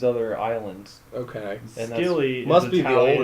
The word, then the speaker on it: Scilly: And when you pronounce it silly, the reason for the silent C is because it's a very hard island to notice.